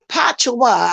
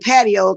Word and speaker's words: patois: Because she be teaching us how to speak Patois. I know how to pronounce it now. I was calling it patio to look like that's the way it's spelled patio, but it's patois.